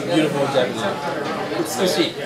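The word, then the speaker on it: 美しい: Utsukushi. Utsukushi.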